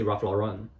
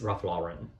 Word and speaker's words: Ralph Lauren: influenced by French I very often would say Raf Lauren like Lohon and uh then my American friends told me it's Raf Lauren. Yeah, it's American brand so we have to respect how they pronounce it.